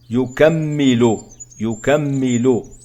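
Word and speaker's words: يُكَمِّلُ: Yukammilu, donc les signes sont damma, fatha, yuka, puis shadda, yukammi, kasra, et puis damma, yukammilu.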